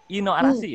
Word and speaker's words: I No Arashi: Ino Arashi atau Aino Arashi seperti itu? Ya bener, Ino Arashi ya pronunciation-nya ya.